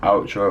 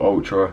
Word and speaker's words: Altra: by the name of Altra, or Ultra, however you want to say it. It's, imagine if you had the word Ultra spelled with an A.